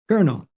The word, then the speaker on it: colonel: go ahead cardinal one more time or no Colonel that's right that's right it looks completely crazy